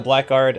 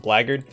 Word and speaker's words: blackguard: yeah I call it Black Guard I know it's called it's actually pronounced blaggard because that's how it's pronounced it was at st.